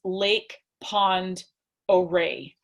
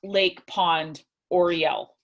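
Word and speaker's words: Lake Pend Oreille: the that the word lake pond array looks like lake penned oreo but it's not it's actually pronounced oh ray it's a french it's a french name and so keep that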